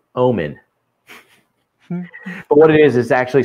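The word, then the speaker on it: ОМОН: And so people who know Russian, so O-M-O, the H is pronounced as an N. So that thing says Omen.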